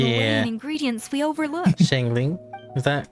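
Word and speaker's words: Xiangling: Shangling? Is that how you pronounce it?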